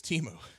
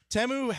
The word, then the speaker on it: Temu: up my up is Teemu yeah I guess it's pronounced temu I didn't know I didn't know that either because the kids all say team and they freaked out when they saw spots for this you know